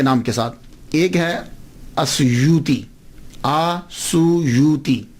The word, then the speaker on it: السیوطی: ایک ہے السیوطی، آسویوتی، الف کے اوپر زبر، شروع میں الف ہے، السیوطی، ابن القطب اور الشاذلی، یہ 3 ٹائٹل ہیں۔ یہ جو السیوط ہے نا، اس کے تلفظ میں 2 باتیں قابل غور ہیں۔ پہلی بات تو یہ ہے کہ اکثر الف چھوڑ جاتے ہیں، سیوطی کے علامہ جلال